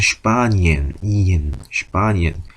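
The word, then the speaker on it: Spanien: 그때 S하고 T가 들어가는 건 슈투로 발음한다 라고 말씀드렸던 것처럼 여기서는 S하고 P도 스프가 아니고 슈프라고 발음한다. 그래서 스파니엔이 아니고 슈파니엔입니다. 여기서는 E하고 E가 붙어 있으니까 이 하는데 여기서 슈파니엔.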